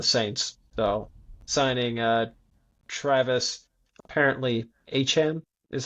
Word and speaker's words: Etienne: Apparently his name is pronounced Achan Interesting. as opposed to ETN.